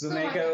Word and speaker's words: Zoomaka: But yeah, it's a word play on Zoomaker, so I think you can pronounce it a little bit as you want.